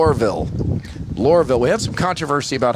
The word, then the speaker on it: Lohrville: All right, the WH13 News is live here at 4 5 6 10 be here all night in Lurville. Two syllables.